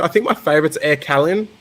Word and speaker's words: Calin: Like, is it Kalin? Kalin? Yeah, Air Calin. That's actually it's French. Really.